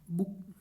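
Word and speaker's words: bouquet: Next देखो last वाला अपने पास लास्ट है बैंक्विट, BOU, बुक, बुके। क्या है इसका सही प्रोनाउंसिएशन है बुके।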